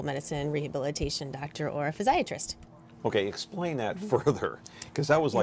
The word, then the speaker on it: physiatrist: Crocker, let me ask you first of all, so, you know, physiatrist kind of rhymes with psychiatrist.